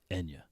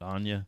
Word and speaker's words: Enya: go sojourow hmm so the correct pronunciation for the Celtic singer Enya is Enya not Anya now we did so